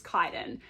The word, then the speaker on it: Kaiden: name and this is kaiden and they make a point of being like it's pronounced kai den that anna anna is